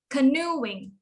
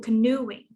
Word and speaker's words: canoeing: then canoeing okay so the stress is new canoeing okay so the three